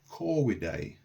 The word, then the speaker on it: corvidae: The V was a W sound. Okay, and so to pronounce it correctly in Latin, you would say corvidae.